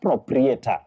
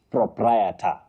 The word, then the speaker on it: proprietor: The second one, proprietor. Proprie, not proprietator. So, Patricia, you say proprietor.